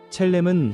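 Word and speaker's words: צלם: 여기서 형상이라는 말은 히브리어 발음으로 첼렘입니다. 첼렘은 하나님을 닮은 모습, 하나님의 성품과 영광을 반영하도록 지음받았다는 의미입니다.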